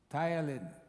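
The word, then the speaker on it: ptyalin: you don't know Thailand it's tiling but it is spelled TTY a l i n Thailand very important for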